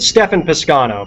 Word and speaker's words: Stephan Piscano: Stefan Piscano, but yeah. So, you got it right. Okay. Stefan Piscano.